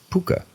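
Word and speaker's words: púca: grandma thought to be a puka, pronounced puka. It's spelled P-U-C'-A, however.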